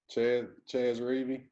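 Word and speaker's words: Chez Reavie: Ches Rivy?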